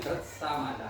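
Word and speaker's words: Gṛtsamada: Yang pertama itu maharesi gr samada bacanya gr samada ya.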